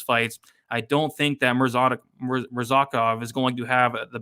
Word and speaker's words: Murzakanov: Murzakanov.